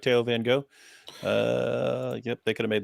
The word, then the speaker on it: Van Gogh: Theo van Gogh got brutally murdered for making what we just watched. That was too much for jihadis. Yeah. Van Gogh. Van Gogh.